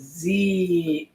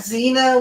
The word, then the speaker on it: Zeea: I've done have to remember her name is z yes z e e a not Zena with an X and an N not Zer